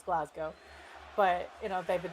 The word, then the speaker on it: Glasgow: names yeah um because a lot of people say it's glasow which it's not it's Glasgow but you know they've